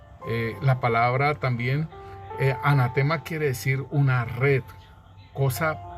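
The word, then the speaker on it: ἀνάθεμα: en el nuevo pacto en griego la palabra nos dice que se pronuncia anatema si asimismo como como como se pronuncia asimismo se escribe anatema y esta palabra en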